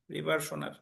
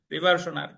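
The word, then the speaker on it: reversioner: নিচে একটা কথা লেখেন রিভারশনার আর আমি বানানটা লিখে দিচ্ছি দেখেন আর ই ভি ই আর এস আই ও এন ই আর রিভারশনার স্ক্রিনে লেখা আছে আরইভি আর এস আই ওনই আর রিভারশনার পরীক্ষায় প্রশ্ন আসতে পারে যে তার কোন ধারায়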